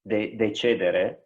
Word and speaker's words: decidere: The word decision comes from Latin, and it's decidere, if we use the ecclesiastical pronunciation, and which really means chop off or cut away something.